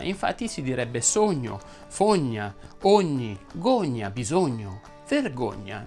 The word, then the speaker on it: sogno: Quando una parola termina in ogna, ogne, ogni e ogno, quella O va pronunciata chiusa. Infatti si direbbe sogno, fogna, ogni, gogna, bisogno,